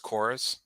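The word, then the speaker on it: Chorvs: I'm playing one called chorus c-h-o-r-v-s but I think it's pronounced chorus yeah um that's a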